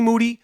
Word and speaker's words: Moody: that me and G moody last name rhymes with Duty went Hardbody off the